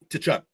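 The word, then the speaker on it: Tkachuk: Is it Tekk? How you say his name? To Chuck. Okay. It's like his dad Keith.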